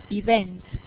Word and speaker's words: event: coming click event to event when you file the stress on the second line it is like respect ok event event expect is the same very very ok now